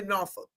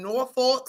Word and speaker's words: Norfolk: Nor just I know it spelled North Fork, but we just say Norolk. Nor it just OT be cracking me up. They be saying Norolk state.